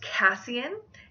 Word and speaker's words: Cassian: And my last Sebastian alternative I have is Cassian. This is an English form of Cassius, which means empty. His name can also be pronounced Cassian.